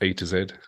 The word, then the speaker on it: AIIZ: which is AIIZ Studio, which is pronounced A to Z.